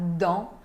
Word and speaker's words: dans: Dans ma valise, na minha mala, dans, não se pronuncia o S final, dans.